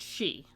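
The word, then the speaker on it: sidhe: That is pronounced she.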